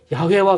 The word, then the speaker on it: 야훼: 그래서 그 YHWH라고 하는 이 자음에다가 아도나이에서 사용된 그 모음을 하나씩 붙여서 발음할 때 그때 나오는 발음이 여호와 혹은 야훼와 같은 이런 발음이 되는 거죠.